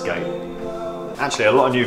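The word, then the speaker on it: G8: It's pronounced gate, isn't it? Pronounced gate.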